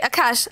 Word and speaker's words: Akash: pain and aash first of all am not pronouncing your name corly now yes yes you are great Akash uh we have here your website Akash